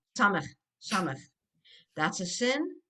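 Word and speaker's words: סמך: Samech, samech. That's a sin. This is a samech. The samach is like circular, and that's how I try and remind the kids. It's circular. It's samach. It's s.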